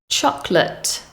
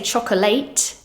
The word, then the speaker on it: chocolate: Chocolate, chocolate. We don't say chocolate. That final syllable is unstressed, so it has a weak schwa sound.